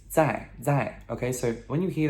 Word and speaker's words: 在: It's 在, okay?